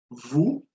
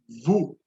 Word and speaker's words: vous: Second person plural, vous, and the stress pronoun here is the same, vous. So remember the pronunciation. So the S is always silent.